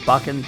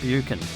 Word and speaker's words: Buchan: We start this trip in the rural town of Buckan. Funnily pronounced, this town is actually called Buckan, some call it Buchan.